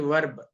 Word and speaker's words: verb: Okay, verb. Bad thing in the sense R should be silent. Verb. That is the correct pronunciation.